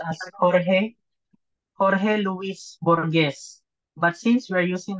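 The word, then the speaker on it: Jorge Luis Borges: specifically this author His name is Should Be pronounced As Jorge Jorge Luis borgz But since we are using ng English um American so we can read this as George Lewis borge from Argentina so his work has been described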